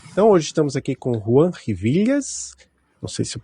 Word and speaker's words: Juan: Rivídias é a pronúncia original, mas tá de bom tamanho. E é Juan, não é João? É Juan.